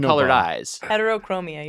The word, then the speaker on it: heterochromia: named Heterochroma. This is Bob. But he's got the Bob. two different I know colored Bob. eyes. Heterochromia, you're right. Heterochromia. I mispronounced it.